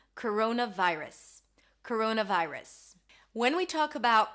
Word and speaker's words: coronavirus: We have a schwa here, if you can hear, vi, I as in my, and then rus. Round your lips for the R, a schwa sound, and an S. Coronavirus.